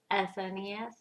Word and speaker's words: SNES: SNES.